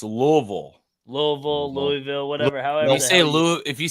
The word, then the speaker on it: Louisville: But I think Louisville, too. Louisville, definitely. You got to bring that back. Yeah. Got to say it right, though. It's Louisville.